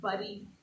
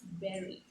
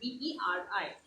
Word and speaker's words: bury: It's not bury, it's bury. It's bury someone. Beri.